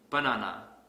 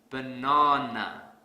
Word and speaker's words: banana: program here's another example let's say I pronounce this word has banana this is incorrect because I don't stress the second syllable so to fix this I will stress the second syllable really hard banana banana the sad silly but you